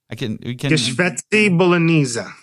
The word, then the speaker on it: Geschwätzi Bolognese: How do we pronounce it? It's It's Geschwätzi Bolognese. Geschwätzi Bolognese.